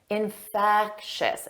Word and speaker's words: infectious: subscribe let's review infectious notice that three sounds infectous infectious and the syllable stress is on the second syllable repeat after me infectious